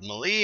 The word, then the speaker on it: melee: said the word right I know I keep calling it melee forgot what games I've also I've said that in but it's me Lee and I've been saying it wrong my whole life I feel like a